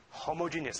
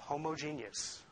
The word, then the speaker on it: homogeneous: their homogeneous I like I pronounced that homogenius for some reason we pronounce it homogeneous in electromagnetics for many other things like when it comes to milk it's homogeneous but it's the same word isn't that weird now